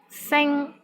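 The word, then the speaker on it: 星: Sing, which means star, S-I-N-G-1. Here, the initial sound is S, and final sound is ing, I-N-G, and the syllable is in the first tone.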